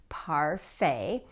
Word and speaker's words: parfait: Now, like many of these other words, the T at the end of the word is silent. Parfait.